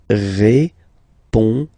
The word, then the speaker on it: répondez: Remember, you combine these two letters, you get the sound E. So, répondez.